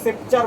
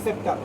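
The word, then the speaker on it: sceptre: এটা কিন্তু সেপ্টার বলবি না, সেপ্টার, SCEPTR।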